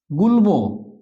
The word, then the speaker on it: গুল্ম: গুল্ম, এই যে লয়ের সাথে ম ফলা আছে তাই এটা উচ্চারিত হলো গুল্ম।